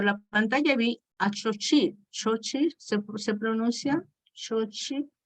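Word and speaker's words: Xóchitl: Xochitl se pronuncia, Xochitl, ¿ok?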